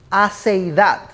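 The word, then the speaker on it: aseidad: Aceidad. Lean bien sus bosquejos, no es ansiedad, es aceidad. Esa palabrita es una palabra que proviene del latín.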